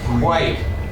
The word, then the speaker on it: quite: I t e. So this gets long sound. Quite quite quite quite it tight.